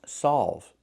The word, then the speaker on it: solve: We need the sound a like in ball and call.